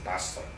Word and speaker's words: Pastor: escrito por Robert Pastor, así como pastor, nada más que hay que pronunciarlo en inglés, Pastor.